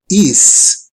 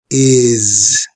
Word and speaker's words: is: This word is usually mispronounced is. The right pronunciation would be is. You have to feel how your vocal cords vibrate when you pronounce this word.